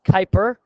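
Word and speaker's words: Kuiper Belt: is Pluto lies something called the Kyper Bel pronounced Kyper and there are many icy asteroid and Comet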